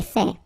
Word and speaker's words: fait: So remember, final T is not pronounced. J'ai fait.